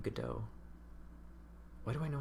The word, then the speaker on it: Godot: I actually know what the name, how to pronounce the name Godot.